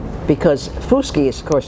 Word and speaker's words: Fuschi: reality life is a dream right but you pronounce my name so well miss whiskey perfect I'm just so happy to see you asked me before you said what is the origin of that name because FUS key is course sounds Italian Queen only I see